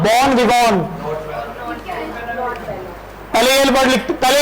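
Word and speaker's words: bon vivant: और last word लिखेंगे सभी, बॉन विवॉन, बॉन विवॉन, ये विवेंट नहीं होता, बॉन विवॉन, ये वी वॉन है, ठीक है, इसको विवेंट नहीं लिखना, बॉन विवॉन, ठीक है।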